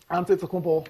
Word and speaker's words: Antetokounmpo: Pronounce this name. Antetokounmpo.